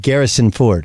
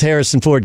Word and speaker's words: Harrison Ford: to hate Russians it's they can't pronounce Garrison Ford there you go you're like ah you know I was I was more really about about their leader I don't like Putin but then I found out they pronounced Harrison Ford Garrison I just couldn't handle